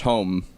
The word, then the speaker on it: Homme: Josh Homme, Josh Homme.